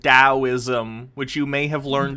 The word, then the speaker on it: Taoism: So while you'll sit and read about Taoism or Stoicism like a dork, I'm pretty sure it's pronounced Taoism, which you may have learned if you'd actually read a book, Tate.